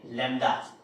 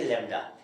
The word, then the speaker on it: lambda: ठीक है, LAMBDA, लैम्डा बोलेंगे, लैम्डा, ठीक है ना, बी साइलेंट रहेगा।